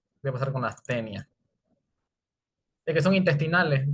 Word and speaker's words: Taenia: Familia Tenidae, género Tenia o Taenia, que en realidad cuando te juntas una A y una E en latín, que es el idioma de la taxonomía, se pronuncia como E. Puede ser Tenia solium y saginata, las